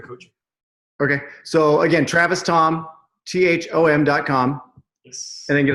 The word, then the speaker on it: Thom: just go to Travis Tom calm my last name is spelled th om so Travis Tom calm